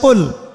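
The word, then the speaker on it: قل: শব্দের অর্থ হচ্ছে বলুন কিন্তু আপনি যদি কফ এর মাখরাজটা ভুল করেন এবং কফ না বলে আপনি ছোট কাফ পড়েন এবং কুল না পড়ে আপনি কুল পড়েন বলেন যে কুলহু আল্লাহু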